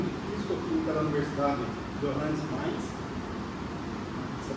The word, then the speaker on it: Mainz: com o Departamento de Físico-Química da Universidade Johannes Mainz, essa pronúncia correta, na Alemanha.